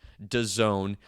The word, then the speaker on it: DAZN: trying to sell to Don Dazn, but pronounced Done.